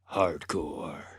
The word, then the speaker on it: H.A.R.D. Corps: a lot of them are corpses but it's pronounced hardcore i uh have been very busy all day